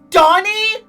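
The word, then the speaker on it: Dani: Wait a minute, his first name is supposed to be pronounced like Donnie?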